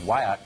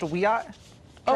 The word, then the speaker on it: Wiyot: a member of the Wyatt Tribal Council in California and she joins us tonight medicine thanks for coming on hi thank you for having me it's pronounced a we are oh I beg you I